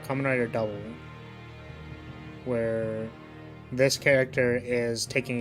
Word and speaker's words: Kamen Rider W: on the events of kamen rider w pronounced as double oh kamen rider double where this character is